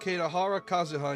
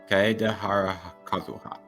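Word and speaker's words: Kaedehara Kazuha: He was Kadhara Kazuha in Genshin Impact or Kaidhara Kazuha. Kaidara Kazuha. Yeah, Kaidhara. I said it wrong.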